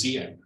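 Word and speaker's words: Diệm: he was, Vietnamese names, I think it's Diem, is spelled with a D, but it's not a D.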